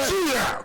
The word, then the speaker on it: suya: Say suya. yes. Suya. You have to say suya with your chest up because Right.